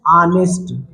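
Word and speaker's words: honest: ऐसे लिखा है लेकिन इसको पढ़ते हैं ऑनेस्ट क्या पढ़ते हैं ठीक है इसके उच्चारण में उच्चारण में ए रहा है ना इसका मतलब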